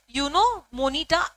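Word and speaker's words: Juno Moneta: अब ये जे जो है दैट इज साइलेंट, यूनो मोनिटा ऐसे आप प्रोनाउंस करते हो, ठीक है, एमसीक्यू में आ सकता है, ध्यान रखना।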